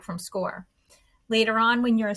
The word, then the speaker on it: SCOIR: you a system called score while it's spelled s c o i r it is indeed pronounced score score is this web-based system